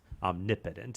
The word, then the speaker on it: omnipotent: because he's he's all-powerful he's omnipotent omnipotent is the better pronunciation so does that help